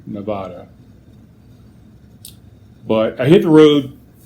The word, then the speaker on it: Nevada: From what I've learned from the locals, is that's the delineation between the two things. Is locals say Nevada, anybody else from out of town, elsewhere, say Nevada.